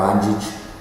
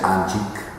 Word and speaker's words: Anđić: Mi nombre es Anđić, que los argentinos siempre pronuncian Anđić porque no ven un acentito en C.